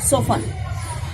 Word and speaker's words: soften: t silent होता है बेटा इसमें. soften.